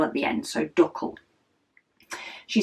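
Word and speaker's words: Dackel: she said is actually dle uh which is pronounced like duck with an NE L at the end so duckle she says probably something she says a lot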